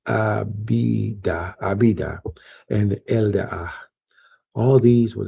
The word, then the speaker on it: Abidah: And the sons of Midian, Ephah and Ephah and Hanach and Abdiah. I think I said it wrong. Abidah, and Eldaah.